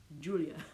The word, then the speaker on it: Giulia: My name is pronounced Julia. Julia's like Julia, Giulia.